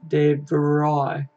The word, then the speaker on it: De Vrij: It's pronounced De Vrij.